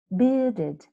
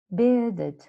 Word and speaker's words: bearded: look at this word bearded bearded grey bearded merchant and merchant merchant remember us again is that r in equally in beded bearded the r is not pronounced and merchant merchant also